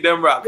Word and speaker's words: Demroc: You gonna be saying Demroc.